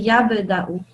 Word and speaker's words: يبدأ: So you say it with a jumping sound. Can you try again? يبدأ. Good. Yeah. Well done. Yeah. Say it like a little bit more. Make it more. What is it called? Make it more obvious, sort of, to say yab.